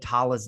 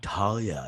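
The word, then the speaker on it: Talla: probably meant to said tala's name wrong and you guys are going to be all like her names it's pronounced tala not talia you're so wrong and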